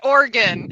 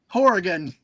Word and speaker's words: Oregon: oh never mind what what or wait it's pronounced Oregon everybody says Oregon Oregon Oregon I usually say Oregon hold on for the for the only British person on the stream right now he said hor Horgan Horan wrong um Yanni you say it orgon